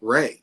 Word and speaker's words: Ray: on my coffee cup I usually say Ray is Ray like the sunshine and so it kind